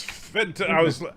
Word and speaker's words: Fenton: Who was Finton? Say that again? Who was Finton? Yes, Fenton. I couldn't quite hear the second syllable the first time.